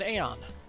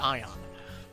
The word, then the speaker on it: Aeon: Use it on an Aeon. Ion. Sorry. They pronounce it Ion.